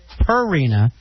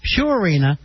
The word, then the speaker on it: Purina: spots he pronounces it per arena it is pronounced pureena like pure water oh not purina like the cat is